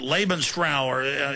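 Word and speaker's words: Lebensraum: the slavs for uh was it laban's flower that's the proper pronunciation living space and so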